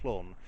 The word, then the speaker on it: Clun: I'm not quite sure how to pronounce it. I'm reliably informed it's something along the lines of clone rather than the being pronounced as Welsh because the Welsh name is actually different.